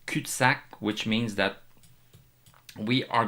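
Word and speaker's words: cul-de-sac: we have we have reached a CAC this is how we pronounce it in French kutac which means that we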